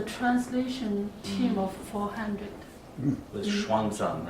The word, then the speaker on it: Xuanzang: Xuanzang.